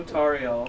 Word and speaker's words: Tauriel: You know Tauriel. Right. It's pronounced Tauriel.